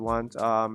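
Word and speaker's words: は: It's wa with the ha character, but it's pronounced wa.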